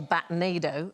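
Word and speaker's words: batnado: what's known as a batado it's like rhymes with a tornado okay so numerous batado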